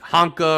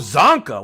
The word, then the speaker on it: Zonka: I couldn't pronounce it. So I was like, Honka or Chonka or whatever. And she goes, oh, Zonka, Larry.